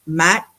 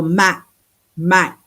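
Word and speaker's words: ម៉ាក់: Another thing that they catch you on is there's this silent consonant on the end of words. Like I was saying, the word for mom is Mac, like Mac, but they don't always say that K like Mac.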